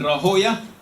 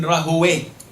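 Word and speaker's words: Rahawayh: You can say Ishaq ibn Rahoya, and you can say Ishaq ibn Rahowe, like Sibawe or Siboya. It is pronounced differently. Jurors pronounce it differently to muhaddith, people of hadith.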